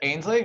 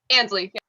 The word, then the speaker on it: Ansley: Is it Ainsley? Did I pronounce it right? Ansley. Yeah. Ansley, sorry.